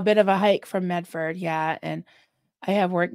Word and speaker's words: Medford: friend from Medford and they called it mefa they don't pronounce a lot of their consonant so it was mea I'm sure you don't say mefa yeah say Medford or Medford Medford mefa